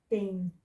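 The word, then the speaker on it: בין: Final Nun, is so this is the bet. So the sound of the bet is ba. So sound of the consonant, then sound of the vowel. So 2 dots with the yud is the A sound. We have done that in a previous lesson. And then Final Nun is then beyn, which is between.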